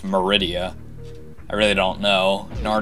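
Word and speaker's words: Maridia: and the other episodes I kept saying majority but it's actually just Meridia I really don't know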